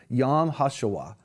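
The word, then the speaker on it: Yom HaShoah: focus on the Holocaust Remembrance Day it's actually pronounced yam hasuwa and we're going to talk about how important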